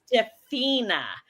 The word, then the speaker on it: Stephenia: or say it right, the right way to say it is Stephenia, because I was saying it wrong. But see how pretty Stephenia sounds?